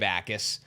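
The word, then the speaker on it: Jacas: It's Gabe Bakis. Oh yeah. Yeah. The Jay is silent. The J is silent. Gabe Ais the edge defender from Illinois.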